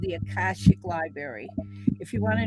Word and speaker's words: Akashic: We talked about the Ascotch, or I say it wrong all the time, but the Ascotch record. Who know how to say that? Akashic Library.